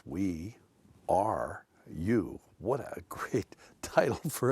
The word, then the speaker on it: WERU: appealing as the as the alliteration weru which could be pronounced we are you what a great title